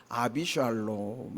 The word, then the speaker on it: 압살롬: 압살롬이 이름 그 뜻도 원래 이제 히브리말로 압살롬 할 때 샬롬은 샬롬이라는 뜻이고 압은 앞에 아비라는 뜻이에요 그래서 아비 샬롬 이런 뜻 말이거든 원래는 더 정확하게 발음하면 아비 샬롬인터뷰 또 하나는 솔로몬이 원래는